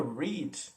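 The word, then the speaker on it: read: é diferente tá porque a palavra rede ela se escreve igual no passado e ela se fala diferente então o passado the bridge red mas escreve igual o passado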